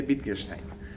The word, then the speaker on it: Wittgenstein: autor se llama wittgenstein se escribe con w weekend stein se escribe y se lee bikers time y hay dos